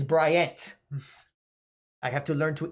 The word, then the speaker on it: Bryant: brian in stratfor college it's not brian it's bryant i have to learn